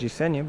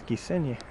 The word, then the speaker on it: Gisenyi: pronunciation the major city i was calling it jisenya but it's gisenye not gonna make that mistake again over there it says